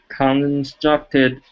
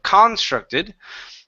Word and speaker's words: constructed: Our stress is right here. Instead of constructed, the stress is in the middle. Constructed. Constructed. Very good.